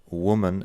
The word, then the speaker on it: woman: Igual con woman and women. Igual en cómo se escriben, pero luego, si escuchas bien la pronunciación, lo que cambia es el primer sonido.